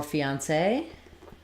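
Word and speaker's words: fiancé: for you is okay um and then for fiancee it's um fee um say fiance with the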